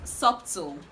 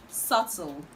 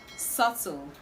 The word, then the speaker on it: subtle: word is commonly pronounced subtle subtle but the right to pronounce this word is subtle subtle subtle the b in this word is silent now i've shared two